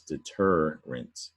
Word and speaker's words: deterrent: remint is the bottom word three syllable word up top is deter rent right there's the difference in the red stressed syllable now i want to